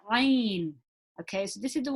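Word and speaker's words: ع: So the ain is actually pronounced from the middle of the throat. Okay, so a is pronounced from the middle of the throat, the same as the ha. So there are 2 letters that are pronounced from the middle of the throat. So ha and ain.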